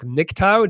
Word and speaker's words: MGTOW: those who don't know i guess i'm saying it wrong it's like nicktown that's how you say it so this is a